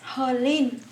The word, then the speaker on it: H'Linh: Tiene un H inicio. Yo entiendo que en español ese H no suena. H, por eso cuando alguien dice mi nombre sin pronuncia H, pero ese H en vietnamita suena como J en español, por eso es jolín, como Okay, muy bien.